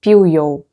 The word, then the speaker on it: Peugeot: В испанском оно произносится как Peugeot.